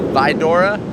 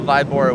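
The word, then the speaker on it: Víbora: I think I pronounced it El Vidora. It's El Vibora with a B.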